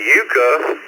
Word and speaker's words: Iuka: And you pronounce my town Iuka, Mississippi, and I'm on Pickwick Lake out here.